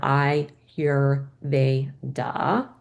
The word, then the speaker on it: Ayurveda: A lot of people have trouble pronouncing it, so I put this like phonetic spelling here, Ayurveda.